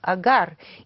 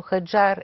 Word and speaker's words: Хаджар: му син от робинята агар или хаджар както е по-правилно да се нарича защото хаджар е произношението ѝ на арабски синът на тази робиня